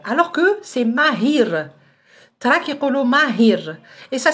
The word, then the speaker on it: ماهر: ماهر سي حنا quand on prononce هاد لو برينون ماهر on le prononce comme ça ماهر alors que c'est ماهير.